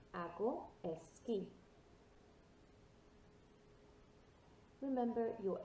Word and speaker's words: esquí: So it sounds like K-E-Y, i.e. like a key in the door, esquí.